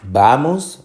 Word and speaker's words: vamos: da moss se dice vamos o se dice vamos te dice vamos la fuerza de pronunciación está en la penúltima en última sílaba no